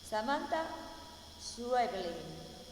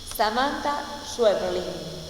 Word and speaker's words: Samantha Schweblin: Samantha Schweblin. Yo lo voy a escribir en la clase para que les quede. Samantha Blin. Por eso me cuesta tanto pronunciar. Samantha Schweblin.